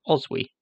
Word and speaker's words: Oswy: king of Northumbria was Oswy. You'll see his name here spelled with a Y, but in Old English it ends with IG. Old English G's are sometimes pronounced like consonantal Y's.